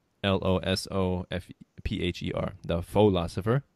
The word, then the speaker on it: The Pholosopher: el oso fph ER the philosopher but of course pronounced the philosopher so so you make